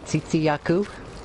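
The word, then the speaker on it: Tzitzi-Ya-Ku: Okay, pardon me if I butchered the pronunciation, but the Tsitsi Yaku. Oh, yeah, that one. That one's going to be an easy one. Also, yeah, that's pretty much how you pronounce it. Tsitsi Yaku.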